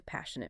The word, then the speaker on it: passionate: the word passionate yeah the stress shifts to the first syllable when it's used before a noun as in he's a passionate musician wow that's such